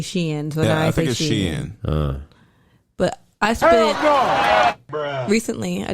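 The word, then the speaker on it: Shein: are you saying yeah or sheen it's spelled s-h-e-i-n i say i used to say sheen but i heard people say she ends but i spent recently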